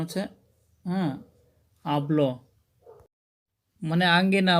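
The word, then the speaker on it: αυλή: পরে দেখেন র এসেছে এজন্য আব তারপর দেখেন আবল একটি শব্দ যেখানে আলফা এফসিলের পরে কিন্তু লাম দা এসেছে যার ফলে এখানে উচ্চারণ হচ্ছে আবল মানে আঙ্গিনা বা উঠান বন্ধুরা এখন আমরা আলোচনা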